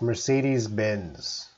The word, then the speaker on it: Mercedes-Benz: How natives pronounce Mercedes-Benz. That's Mercedes-Benz, the car.